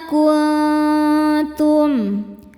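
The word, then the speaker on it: كُنْتُمْ: Ada hukum ikhfa hakiki akrab sebab ada nun sukun bertemu dengan huruf ta. Cara bacanya nun disamarkan menuju ta, kemudian ada dengungnya. Dengungnya sedikit karena ta ini makhrajnya dekat dengan nun.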